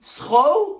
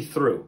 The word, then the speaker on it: through: Okay, so then this must be throw? No, come on, that's obviously through. Huh, through. Okay, well then this must be do?